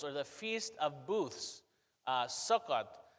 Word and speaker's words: Sukkot: So the background of this feast is the Feast of Tabernacles, or the Feast of Booths, Sukkot, as I believe it's pronounced in Hebrew.